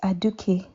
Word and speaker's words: Aduke: What's it pronounced as? It's Aduke, actually. Aduke.